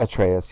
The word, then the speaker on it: Atreus: I'm also going with Kratos and Atreus because is that how it's pronounced? Atreus? Atreus, yeah.